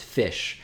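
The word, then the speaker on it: ghoti: John Eagle just posted something interesting in the chat saying G H O TI is pronounced fish.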